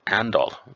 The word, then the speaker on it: Arendal: So let's have a look at some facts about Arendal, or Andal, as the locals say, and see what we will get up to.